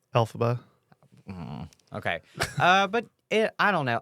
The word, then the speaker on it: Elphaba: Elphaba. I said it right. Right? Yeah, sure. How do you say it? Elphaba. Elphaba.